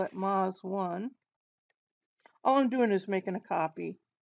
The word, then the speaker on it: Meuse: So since this is geology, we're going to talk about a special data set, and it's called, even though it's spelled like this, it's spelled like meuse. It's pronounced meuse.